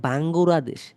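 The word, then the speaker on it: バングラデシュ: আমাদের দেশের নাম বাংলাদেশ, বাংলাদেশকে জাপানিজে উচ্চারণ করে বাঙ্গুরাদেশ।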